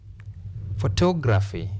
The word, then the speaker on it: photography: Photography, photography. Extra force when you articulate vowel sound O.